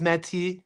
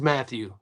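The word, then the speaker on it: Mathieu: If you don't know who Wil I'm not going to pronounce like the French, they say Wilkins Mati. It's Wil is Wilkins Matthew.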